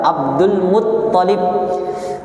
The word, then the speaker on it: Abdul Muttalib: Abdul Muttalib. Karena kadang ada yang menyebut Abdul Muttalib. Abdul Muttalib, yang betul adalah Abdul Muttalib, ta-nya yang bertasydid, bukan lamnya. Ya.